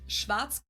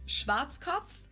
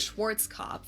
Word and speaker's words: Schwarzkopf: In German, we pronounce it Schwarzkopf.